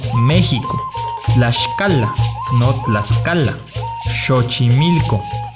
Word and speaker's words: México: white 5 la equis suena como s h entonces es méxico no méxico la escala no clasificarla